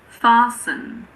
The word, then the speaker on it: fasten: It's normally silent in words that end in S-T-E-N. For example, christen, fasten, listen.